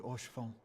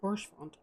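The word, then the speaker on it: Haurchefant: I always call him Horshfont. 'Tis Don't true pronounce that H. Eorzea yet has her guardians. Which makes sense, because it's like, you seem to be like French. Like you say it like a French word, and French doesn't pronounce the H, so Horshfont makes sense.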